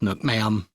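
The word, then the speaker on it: nước mắm: dipping sauce that goes with it it's called Nook ma'am now yes this is how you spell it no it's not a typo it's pronounced Nook ma'am from everything I've been able to find and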